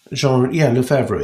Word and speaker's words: Lefebvre: Is that how you pronounce his name? Lefebvre? Lefebvre, yeah.